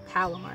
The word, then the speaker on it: Palomar: I, by chance, I'm just using the Palmer knot because I've learned to love it. Palomar knot, I believe, sorry, improperly pronounced.